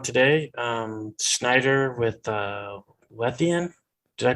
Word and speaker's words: Lethean: great guest on today um schneider with uh lethean did i pronounce that right yeah that's right medium yeah